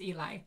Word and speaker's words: Eli: by the name of ellie ehrlich okay wait i just got a message from eli their name is pronounced eli so sorry it's eli just forget i said ellie it's eli their twitter